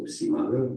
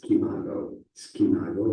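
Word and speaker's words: SCImago: Science is also spelled SCI at the beginning, and you don't say science or you say science, okay? So Simago, that makes sense. Seems that's how they say it in Spain as well, but many people say it as Skimago as well, because it's based on the Scopus, okay?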